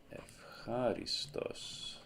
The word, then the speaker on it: ευχάριστος: So epsilon ypsilon will be pronounced as F. So because a h sound is voiceless, the ypsilon here has to be pronounced as a f instead of a v.